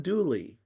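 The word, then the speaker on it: Dula: And so most people know the murder from what they heard as the ballot of Tom Douly, dua, but they pronounce it douly in North Carolina, just like Pearl was spelled P A L I N E.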